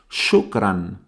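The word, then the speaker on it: شكرًا: seguramente todos conoceréis es shukran shukran notáis ahora esa n final shukran y y la palabra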